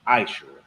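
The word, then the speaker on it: מעשר: You can find this in Numbers 18:21, Malachi 3:8-10, means 10th in the Hebrew, and it's pronounced Ma'ashera.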